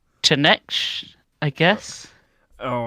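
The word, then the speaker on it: Slaanesh: One I don't even know how to pronounce. Chineksh, I guess. Oh, right. Yeah, there's a Yep. Slanesh.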